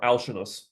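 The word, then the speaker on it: Alcinous: by this one also Alin or alinos is usually how I've heard it pronounced all my Greek friends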